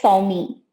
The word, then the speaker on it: Swami: for your name uh you can call it sawmi sorry okay that's what